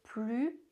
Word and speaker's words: plus: Plus in negation. Don't pronounce the s. Plus, more. Pronounce the s.